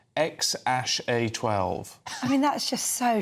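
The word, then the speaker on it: X Æ A-12: You know, this his song is called It's pronounced X ash A12.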